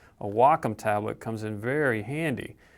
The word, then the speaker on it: Wacom: This is also where a Wacom tablet, or a Wacom, I should say, I should pronounce it correctly, a Wacom tablet comes in very